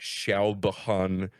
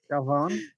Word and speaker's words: Siobhan: if I were to pronounce it, it would be like Shalbahan, Shalban, or something. Siobhan. Yeah, and it's Definitely a like, whole different set of pronunciation rules.